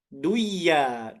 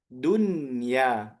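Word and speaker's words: دنيا: Harusnya kan kita baca gom ustaz. Duyya gitu ustaz ya. Duya gitu tapi kita baca apa? Dunya.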